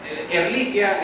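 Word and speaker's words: Ehrlichia: Usted se les tiene que quitar esa ca manera son erliquia, eso es latín y el latín ch es como los italianos, no se pronuncia ch, eso es español, pero eso no está en español, eso está en latín.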